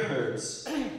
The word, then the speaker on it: herbs: The same night they are to eat the meat roasted over the fire along with bitter herbs, or herbs, depending on how you say it, and bread made without yeast.